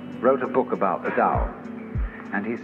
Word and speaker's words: Tao: called the dao tao pronounced dao in the mandarin dialect tao in the shanghai dialect toe in the cantonese dialect take your choice dao